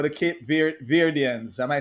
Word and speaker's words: Cape Verdeans: How the Cape Verdeans? Am I saying it right? Cape Verdeans?